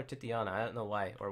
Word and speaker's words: Titania: titiana up right now how do you say titiana or what Titania TI T Titania Titania I call her titiana I don't know why